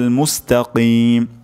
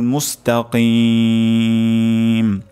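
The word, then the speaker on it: مستقيم: কিন্তু অশুদ্ধ হবে উচ্চারণটি এখানে কফ উচ্চারণটি করতে হবে মুস্তাকিম মুস্তাকিম মুস্তাকিমদিনা সিরাতাল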